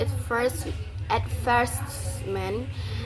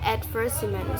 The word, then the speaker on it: advertisement: For instance, in British English, the word at first meant is stressed on the second syllable. Advertisement in American English it is often stressed on the first syllable advertisement.